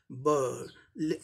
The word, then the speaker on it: bird: यहाँ a letter नहीं है, फिर भी अ का उच्चारण आता है। यहाँ ब, आई जो होता है अ की तरह उच्चारण होता है इसका। जब स्पोकन इंग्लिश में आते हैं इसका उच्चारण अ होता है, आई लेटर है लेकिन इसका उच्चारण अ होता है, बर्ड।